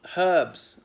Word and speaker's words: herbs: things like that ah herbs we have herbs by I know the United States they're pronounced herbs the H is silent well I wonder why